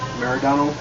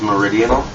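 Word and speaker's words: Meridional: your current album uh maradona um i read that you guys went back to your roots with that album um reason being yeah it's pronounced meridian sorry yeah i i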